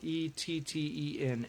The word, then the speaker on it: etten: It's spelled E-T-T-E-N, etten.